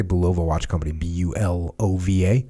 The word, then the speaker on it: Bulova: like the chairman of Belova Bulova how do you say Bulova watch company bul OVA you know over Bulova mmm he was the